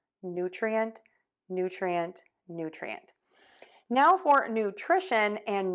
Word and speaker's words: nutrition: Now for nutrition and nutritious, what we are going to do is we're going to shift that stress to the to that middle syllable.